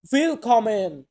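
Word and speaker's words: Willkommen: আমরা বলি ওয়েলকাম এটাকে আমরা জার্মান ভাষাতে বলবো উইল কমেন উইল কমেন মানে হচ্ছে স্বাগতম দেন এখানে কি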